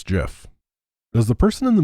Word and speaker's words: GIF: don't don't do it what is the right way to pronounce gif it's jif does the person in